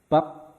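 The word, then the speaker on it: 밥: Ketika ada di akhir biep ini P. Jadi ini katanya dibacanya bab.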